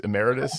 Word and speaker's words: emeritus: Oh, I still don't know. Ammeritis. Emeritus. Is that what you said? Yeah, that's it. I'll try to remember that.